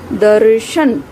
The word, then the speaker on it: दर्शन: इसका उच्चारण है द और श के बीच में। आप उच्चारण करें फिर से, दर्शन।